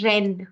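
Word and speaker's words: Rennes: because sound French is but this here is e n e which is going to be pronounced as n okay so you're going to say Ren please say that Ren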